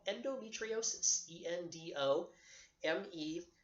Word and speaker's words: endometriosis: women are going to experience is thing called endometriosis do em eve t RI o sis and